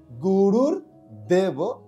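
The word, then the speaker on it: গুরুর্দেব: তারপরে রয়েছে গুরুর দেব, এখানে একটা রেপ রয়েছে যেখানে রয়ের উচ্চারণ হবে গুরুর দেব মহেশ্বরম।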